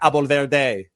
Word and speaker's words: Abolverdi: You guys call him Zach Abolverdi. I call him Zach Abolverdi. That's right. That's, everybody. That's that Persian pronunciation, baby.